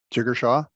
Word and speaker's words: Jigar Shah: Jigar Shah? Jigar Shah, yeah.